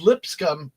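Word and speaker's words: Lipscomb: Iowa State uh crushes lip scum yeah that's the way you say it lip scum uh 8255 um even though it has a b in it it's silent h what the hell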